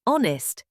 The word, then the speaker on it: honest: An honest boy. The H is silent, so it sounds like honest, a vowel sound.